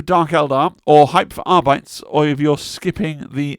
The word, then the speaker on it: Arbites: a long time, but I know it's supposed to be Arbites or Arbites to rhyme with Custodes and Astartes and all the other things that end in A's and not bites, but I'm going to say Arbites, right?